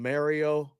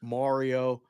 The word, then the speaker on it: Mario: myself was hey uh I call them Mario um a lot of people say I say it wrong it's Mario anyhow I said hey